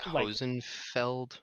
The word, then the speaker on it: Hosenfeld: He's I think it's like Hosenfeld. Hosenfeld, yeah, Hosenfeld. Hosenfeld, if you Yeah, pronounce it more Hosenfeld. German, yeah.